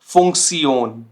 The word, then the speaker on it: Funktion: तो ये हम साउंड करते हैं कुछ ऐसा, सियोन, सियोन। zum Beispiel Motivation, Motivation, Situation, Situation, Funktion, Funktion। तो देखिए ये तीनों वर्ड के एंडिंग में ये कॉम्बिनेशन आ रहा है और ये साउंड कर रहा है सियोन, सियोन, ठीक हो गया।